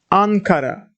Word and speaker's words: Ankara: more syllable more letters and the let the syllable is closed it means ending in M Ankara on car on is checked that's why we